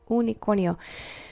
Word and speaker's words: unicornio: U like unicor okay unicornio it's not U it's O so when we pronounce this it's we have to try really hard not to give it that English U okay it's unicornio not